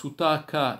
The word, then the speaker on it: sutak: Dans le deuxième sens, sutaka, il signifie la réalisation de quelque chose, l'accomplissement de quelque chose, ou le développement de quelque chose, et sutak, avec la diphtongue sur la première partie la première syllabe, eh bien, il signifie effectivement l'impureté.